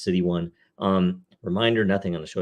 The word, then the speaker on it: 0xc1: This is episode City 1. That's 0xc1. It's the 194th episode. Again, it's pronounced City 1.